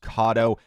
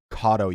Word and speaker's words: Kado: do have to say I mispronounced their actual name it is pronounced kado Cado you guys don't go